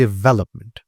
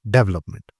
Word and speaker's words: development: नाउ the stress syllable is well, second syllable. सो हम कहेंगे development, development rather than development.